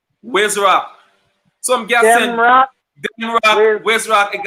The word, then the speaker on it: Demroc: You gonna be saying Demroc.